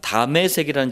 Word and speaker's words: 다메섹: 다메섹이라는 지역이 나왔어요. 다메섹이 어디냐면은 지금의 시리아의 수도입니다. 다마스쿠스라고 돼 있죠. 그 시리아의 수도 다마스쿠스를 히브리식 발음으로 다메섹이라 그래요.